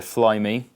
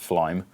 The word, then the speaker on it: Flyme: So, as we can see on the screen here, Flyme, I presume that's not pronounced Flyme.